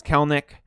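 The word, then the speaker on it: Kelenic: the video next up is jarrod kalenick or jared kellnick i believe it's pronounced which is strange with the spelling but i've had mariner fans tell me it's kelnick he's a stud he is so in 2019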